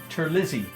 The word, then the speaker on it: Terlizzi: my dear friend Eric Terlizzi. Italian, spell it just the way it sounds, Terlizzi.